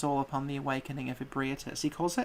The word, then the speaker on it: Ebrietas: mud takes us all upon the awakening of Ebrietas." He calls her Ebritus. So if that had come, we would be pronouncing that name completely differently.